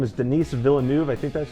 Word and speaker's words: Denis Villeneuve: the director of this movie his name is Denis Villeneuve I think that's how you pronounce it he's come out with two movies